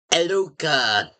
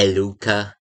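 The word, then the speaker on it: Eluka: Took a while, but I called it Eluca. E L [clears throat and snorts] U K A. Eluca. Hopefully my mouth is saying it right. It It gets everyone confused so easily.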